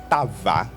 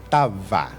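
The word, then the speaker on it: תאווה: La palabra pasión en hebreo es tava y se escribe T, A, tilde en la A para los que están copiando, T, tilde en la A, otra vez A, V y A, tava. Diga conmigo, tava.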